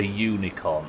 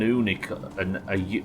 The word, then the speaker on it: unicorn: An unicorn. Yeah, I suppose it's because it's pronounced with a Y, isn't it? Not a U.